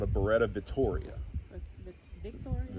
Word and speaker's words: Vittoria: Um the gun that I I like the most out of them is called a Beretta Vittoria. The Vittoria? It's like Victoria, but it's spelled Vittoria.